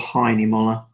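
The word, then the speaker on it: Hahnemühle: no sorry German company it's called high anymore or hanim all different pronunciations of it wherever I go so I'll just stick to Heine mullah and then I generally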